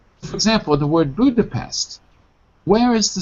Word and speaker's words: Budapest: Budapest. Budapest.